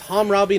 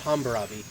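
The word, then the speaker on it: Hambrabi: all right now and it's Hammurabi not Humber ah be the correct way to say I'm Robby I am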